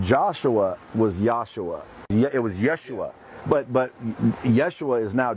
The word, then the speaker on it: Yeshua: or Joshua it was the Aramaic variant which is generally vocalized as Yeshua in the Hebrew Bible but was probably pronounced with the Galilean dialect as just yesu or yesu well that translate to